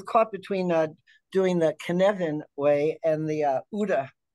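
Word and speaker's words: Cynefin: and he's you know he's talking about the knead and that it's a Welsh term I know it was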